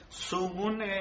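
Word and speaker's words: zugun: De hecho, lo que están viendo en pantalla se van a dar cuenta que Sungun suena con la Z, U, G, U, N.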